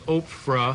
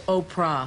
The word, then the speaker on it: Oprah: your name you know I was mispronouncing your name all last week I was I was under the impression it was Oprah I bet you a query yeah Oprah but it's not no it's Oprah Oprah do you know anyone